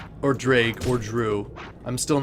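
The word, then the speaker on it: Draugr: what by one point in Oblivion it's pronounced drag silent letters for the win interesting okay drag I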